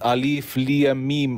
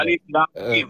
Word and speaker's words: Alif Lam Mim: Dieses Alif Liamim, oder wie das ausgesprochen wird. Alif Lam Mim, ja, Alif Lam Mim.